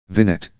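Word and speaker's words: vignette: Big net. How do you pronounce that? Vinet.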